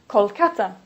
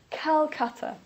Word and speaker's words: Calcutta: police say Hanoi or for example Calcutta please don't say Kolkata Police say Calcutta the reason that we